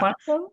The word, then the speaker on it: Quantico: Yeah, Quantico? Okay. Quantico.